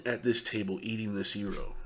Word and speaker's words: gyro: And for those of you that don't know what a gyro is, a lot of people pronounce it gyro.